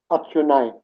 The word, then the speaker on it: atsunai: classroom, saying good night or goodbye, goodbye is atsunai. Oh, that one sounds difficult. Can you try that one again? The spelling goes A-T-S-U-N-A-I. Atsunai. A-T. S-U. Yes. N-A-I. N-A-I. So Atsunai.